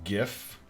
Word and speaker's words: GIF: now according to this it's pronounced with a hard g like gift however it says i saw it a minute ago the creator of of gif the the what's his